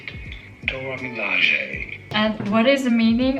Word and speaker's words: Dora Milaje: Up next, I'm gonna try this Dora Milaje color. Different vibe. This is also very pretty. This is Dora Milaje of Milaje. How do you say it? Dora Milaje.